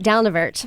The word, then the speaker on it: Dalnavert: did it come from I say it down a verte museum okay it's it's